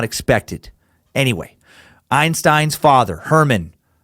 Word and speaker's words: Hermann: Friday March 14 1879 Albert Einstein born in the city of ohm he's born in Germany - Hermann Einstein Hermann looks like Herman it's pronounced Herman I believe they just